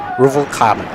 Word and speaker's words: Ruvalcaba: Fernando Ruvalcaba. Caba. Not Cata.